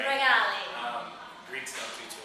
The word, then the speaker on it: Rigali: say it she wanted me to get that pronunciation right regali um Greeks don't do too well pronunciations um